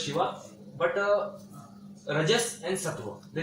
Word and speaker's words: Shiva: So Tamas is associated with Lord Shiva, Lord which is Shiv, which is pronounced as Shiva.